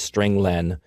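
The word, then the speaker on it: strlen: nine i pronounced its string len because it means string length it returns the number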